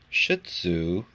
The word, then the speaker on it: Shih Tzu: these are two uh shih tzu is the way you pronounce it which i always try to giggle after i say it my sister's two dogs